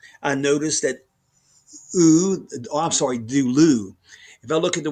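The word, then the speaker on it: δούλου: If I look at the word duloy, I notice that I'm sorry, dulu.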